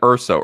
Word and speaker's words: Urso: Yeah, follow Brian Urso. Urso is spelled URSO.